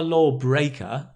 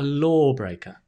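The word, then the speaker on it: lawbreaker: a law breaker yeah not a law breaker no the stress goes on the first syllable a law breaker that's it that's it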